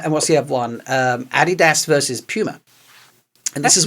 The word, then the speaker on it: Adidas: Adidas is named after, Adidas. I know that's what you call it, but I'm just trying to say it like you say it in my head.